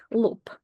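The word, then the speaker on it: лоб: B P why because when B is at the end of the word or the next letter after B is going to be a voiceless consonant what happens is that voiced B loses its voice and becomes its voiceless counterpart P let me show you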